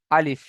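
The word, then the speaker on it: ا: মুখের খালি অংশ হতে হতে হতে উচ্চারিত হয় আলিফ।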